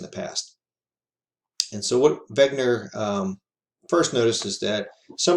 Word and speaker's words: Wegener: See, he did some work leading up to this, but by Alfred Wegener. I tell you he's German because it's pronounced Wegener, not Wegener.